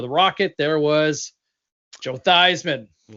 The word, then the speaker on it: Theismann: And they literally changed the pronunciations cuz Theismann for the Heisman.